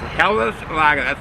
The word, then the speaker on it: Helles: It's pronounced HELLES.